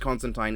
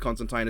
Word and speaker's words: Constantine: And yes, it is pronounced Constantine, even though Constantine sounds so much better.